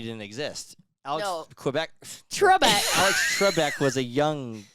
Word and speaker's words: Trebek: I mean, I went on Alex Kubek show. Alex who? How do you say it? Quebec is in Canada. Quebec, Canada. I can't even say Trebek. that. Trebek.